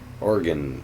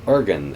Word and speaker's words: Oregon: or Oregon, as some people pronounce it, or Oregon, as other people pronounce it.